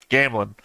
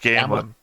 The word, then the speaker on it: Gamlin: once and I can't think of his name Gamlin when he saved gamelin Gamblin Gamblin yeah remember cuz the thing goes right